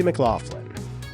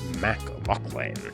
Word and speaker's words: McLaughlin: This name is initially anglicized from the Irish spelling McLaughlin, but even with this spelling, it's supposed to be pronounced the same as McLaughlin. But in America, the pronunciation became McLaughlin.